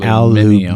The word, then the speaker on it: aluminium: No, I know, but not Aluminium.